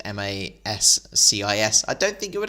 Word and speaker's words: J Mascis: know some of them, like J Mascis, is actually just the letter J, and then Mascis is Mascis.